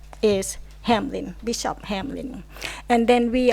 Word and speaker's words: Hamline: Hamline University, actually not Hamline, although it's spelled like Hamline. So a lot of people call us Hamline, but we are Hamline because it was founded by the bishop of who migrated to St.